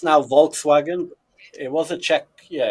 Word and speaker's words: Volkswagen: In German, the B is like an F.